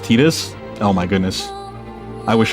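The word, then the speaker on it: Tidus: Technically, it's pronounced Tetus. Oh my goodness. I wish I was cor so I didn't kept call keep calling him Titus, but that is a dumb pronunciation.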